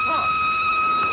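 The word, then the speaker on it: Froy: My name's Troy. You said Troy? No, oh, not indeed. Troy. Sorry, I can't hear. It rhymes with joy.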